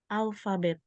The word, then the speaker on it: alphabet: Ini kalau misalnya huruf P ketemu sama huruf H, ini dibacanya F ya. Jadi Oh, bacanya apa? phone. Ya, kalau ini bacanya apa? Alphabet. Ya, jadi gitu ya. Jadi kalau P Phone, ketemu H dibacanya F. ya, dibaca F.